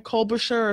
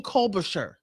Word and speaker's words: Klobuchar: think it was Amy Colbert, how do you pronounce her name? Klobuchar or something like that. She represents Minnesota. She said, this Caravan problem is Trump's. This is in his lap. That's Amy Klobuchar.